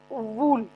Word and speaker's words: wool: how do we pronounce wool? We all say wool, which is wrong, which is completely wrong. What is the symbol of wool? How do we pronounce it? Wool. This is not wool.